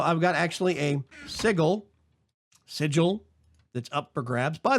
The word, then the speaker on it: sigil: corn correct my pronunciation different parts of the United States States actually do pronounce that word differently while it is technically